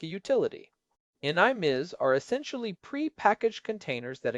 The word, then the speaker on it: NIM: When you combine that with their own software like NVIDIA Inference Microservices or NIM which rhymes with rims, you get what they call an AI factory.